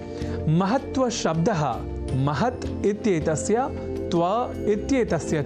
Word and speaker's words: महत्व: यहाँ हमने महत्व के उच्चारण और लेखन पर दिया है विशेष अवधान, अर्थात महत्व में जो 2 अर्ध तकार हैं उनके लेखन और उससे भी बढ़कर उनके उच्चारण पर ध्यान केंद्रित करें, तब हम आज की प्रवृत्ति के अनुसार किसी तरह की अशुद्धि नहीं करेंगे।